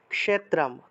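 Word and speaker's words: ক্ষেত্রম্: টা আগে আসছে ধর্মক্ষেত্রে কিন্তু যখন ক্ষেত্র উচ্চারণ করব 13 অধ্যায় ক্ষেত্র ক্ষেত্রজ্ঞ তখন ক টা কেমন এই খ টা কিরকম আসছে উচ্চারণ হবে ক্ষেত্রাম ক্ষেত্রাম ক্ষেত্রাম ক টা একটু উজ্জ্ব থাকবে ক্ষেত্রাম এইভাবে ক্ষেত্রা ক্ষেত্রা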